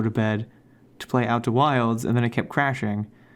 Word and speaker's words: Outer Wilds: and play some Outer Wilds, and the game's fun. I had a good time with that game. I just let you do that entire little monologue there, letting you mispronounce the name Outer Worlds.